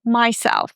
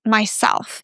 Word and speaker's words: myself: speakers, for some reason, say myself, but it's not myself, it's myself. So, we stress self. The same thing is in yourself, himself, herself, etc. We always focus on the second syllable.